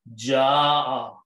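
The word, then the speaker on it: جاء: So it is pronounced as ja'a. Now, according to tajweed, when there is a hamza and there is an alif before that, we put a long mad on that alif and we pronounce ja'a.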